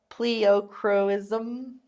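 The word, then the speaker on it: pleochroism: Pleocroism?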